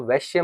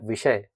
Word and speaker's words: विषय: हम प्रोनाउंस करते हैं इसको आप वैश्य मत बोलिएगा ठीक है वैश्य is different वैश्य इज़ अ वर्ण ये है विषय विषय का मतलब होता